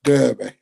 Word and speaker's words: Derby: For all the Americans looking on Derby on the map, it's Derby. That's true. We all say Derby, but it's spelt with an E, not an A.